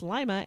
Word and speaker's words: Lima: I know it's pronounced Lima and not Lima like it's spelled well you know like lima beans lima it's pretty near